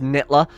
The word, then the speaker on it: Nightler: It's pronounced Nitler.